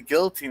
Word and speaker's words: guillotine: that fell to the guillotine or something like that but yeah just the way you know the L is silent so it's Guillotine is how it's pronounced they're guilt yeah same